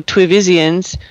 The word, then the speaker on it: TWiVisians: Johnny continues, "They offer improvisation, a course you and your fellow TWivisians," rhymes with Nevisians, the adjective form for Nevis, "could easily offer and teach."